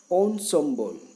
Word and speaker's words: ensemble: in English we call it indispensable next Ensemble Ensemble I'm pronouncing it in a different way since this